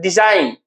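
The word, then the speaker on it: design: में लिखा हुआ डिजाइन, हम लोग क्या कहते हैं डिजाइन, डिजाइन यानी कि देखिए डी साइन यानी क्या हो जाएगा, 2 सिलेबल हो गया, और सेकंड यानी कि बाद में हमको स्ट्रेस लग रहा है तो सेकंड क्या हो जाएगा आपका स्ट्रेस हो गया।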